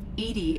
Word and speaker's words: EDI: have a specific inquiry why are you named edie edie is the phonetic pronunciation of edi that is an acronym for